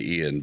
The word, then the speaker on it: Ion: that and then uh ion or I guess you're supposed to say Ian but it's spelled ion um yeah ion's Guild